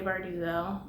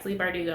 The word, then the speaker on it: Bardugo: and bone trilogy um first of all its Leigh bardugo not Leigh bardugo four years ago me didn't know how to pronounce names but yeah bleep are do go I know that now and